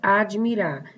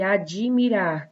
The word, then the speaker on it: admirar: A primeira palavra, admirar. Qual é a letra muda aí? O D. É como se eu dissesse admirar. Tem um I, eu pronuncio um I, porém ele não aparece.